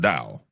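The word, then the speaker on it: Tao: And the tow is not pronounced toao. It's pronounced dao.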